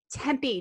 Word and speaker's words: Tempe: church outside of phoenix in a town called tempe did i say that right got it you